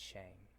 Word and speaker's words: Shang: the shang chi trailer you keep saying chang but it's shang shut up i'm sorry